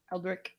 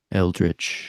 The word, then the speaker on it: eldritch: like an elder at an elder at or aldrick am I saying it right Michael yeah eldritch eldritch I said I read the first time